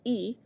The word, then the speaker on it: y: If we want to add the minutes, we add the hour, as we talked about, the letter Y, which means and and is pronounced E, and then the number of the minutes.